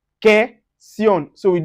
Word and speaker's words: question: That's U is not pronounced when it's followed by, when it's after Q. So we say question, question.